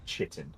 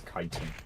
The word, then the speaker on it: chitin: i t i n and they already it chitting it's like no it's kiten I just killed a rare special Elite That